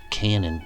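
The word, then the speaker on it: cañón: fuse interestingly the word canon in spanish is spelled c-a-n-o-n and pronounced like the english canyon here's the definition from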